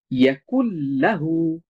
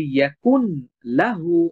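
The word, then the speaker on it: يكن له: ইয়াকুল লাহু, আমি যদি বলি ইয়াকুন লাহু, এটা ভুল উচ্চারণ হবে।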